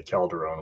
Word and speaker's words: Calderone: Over here in California, I constantly have to battle the Spanish version of Calderon, which does not have the E. Pronounced the same, but every time somebody writes it down, they write it without the E. So I always have to say Calderone with an E.